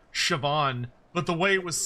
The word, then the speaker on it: Siobhan: Yeah, that's how it's spelled for them. Wait, say so say the name again. That's Siobhan.